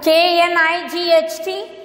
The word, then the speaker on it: knight: See here, K-N-I-G-H-T, N-I-G-H-T. So the same sound, homophones, I told you, same sound, but the spellings are different, and it will also have, the meanings also will have the different thing.